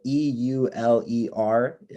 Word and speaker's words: Euler: it's named after a guy named euler so e-u-l-e-r his name was linhard euler that's how you pronounce that he lived in the 18th century